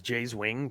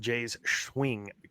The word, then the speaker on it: Jay's Wing: uh but you know the way it's spelled is it's Jay's wing and then someone I don't know who said it on the broadcast but I fell out when they said Jay's swing Jay's swing just like